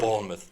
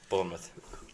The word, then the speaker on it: Bournemouth: Bournemouth. Bournemouth.